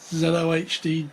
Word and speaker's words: ZOHD: in the new year i've heard this pronounced in many different ways i've heard zood zod zedo hd it's uh zelo hd dart xl extreme now